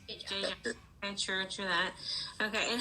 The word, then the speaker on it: Jay Jai: So J is pronounced J-Jai, like that? Yes. J-Jai.